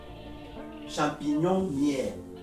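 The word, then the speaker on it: champignonnière: Champignon-nière. C'est comme ça pour ceux qui ne savent pas prononcer.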